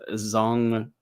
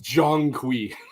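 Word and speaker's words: Zhong Kui: It's Jong Qui. Jong Qui. Um, absolutely butchered that.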